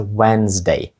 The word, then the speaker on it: Wednesday: не так як вимовляється Отже пишеться воно wednesday а вимовляється wedesday wedesday Ніби там взагалі немає літери D посередині слова знаєте Wednesday а вимовляється